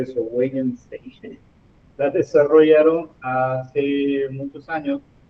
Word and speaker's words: Wittgenstein: Bueno, las tablas de verdad fueron creadas por Charles Sanders Peirce y Ludwig, ¿cómo se pronuncia eso? Wittgenstein.